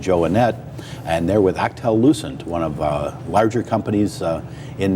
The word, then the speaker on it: Alcatel-Lucent: It's Alcatel-Lucent.